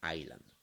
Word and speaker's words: island: si acaso el inglés no se dice island en la s se obvia no se pronuncia la s 6 island rhode island un lugar